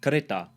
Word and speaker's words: kereta: Notice the Malay pronunciation of kereta. kereta, Final a is usually pronounced as a schwa in Malay, at least in Malaysia.